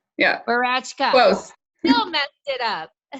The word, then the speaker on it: Woratschka: Who knew that your W was pronounced as a V? So it's Rachel Woratschka. Woratschka. Yeah. Woratschka.